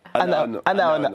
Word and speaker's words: Anaon: Anaon. Mais on l'a mal prononcé pendant quasiment tout le tournage.